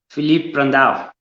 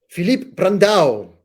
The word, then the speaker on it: Filipe Brandão: Filipe Brandão. Filipe Brandão.